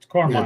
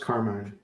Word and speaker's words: Carmen: Carmine, it's Carmine.